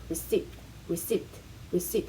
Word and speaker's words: receipt: 발음이 되게 비슷한 단어들도 좀 공부를 했는데 recipe 요리 레시피를 말하고 receipt 할 때 P는 묵음, 영수증 할 때 receipt는 비묵음입니다.